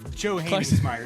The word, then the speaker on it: Johanningsmeier: Johanningsmeier is how it's pronounced. Johanningsmeier, yeah.